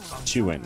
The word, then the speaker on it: Chuan: Chuan, yes. I mean, I've been pronouncing it the same way for like 5 years now, ever since this guy came into the scene.